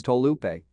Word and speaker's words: Taulupe: recent years he has requested that his rugby squad name be recorded more accurately as tolupe but does not mind